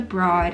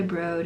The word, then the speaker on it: Broad: It's not pronounced the Broad, it's the Broad. It's someone's last name, it's the owner's last name.